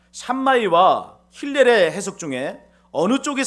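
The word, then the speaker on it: Shammai: 예수님 당시에 바리새파 랍비 중에 샴마이라고 하는 사람이 있었습니다. 상하이가 아니에요. 발음 잘 하셔야 돼요.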